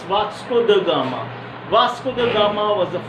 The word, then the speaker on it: Vasco da Gama: Somebody, most of the teachers, Vasco da Gama they used to pronounce, but it's Vasco da Gama.